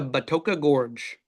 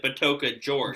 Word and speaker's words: Batoka Gorge: And it says to go to Batoka Gorge. Yes. Or as some of the teams pronounced it, Batoka George.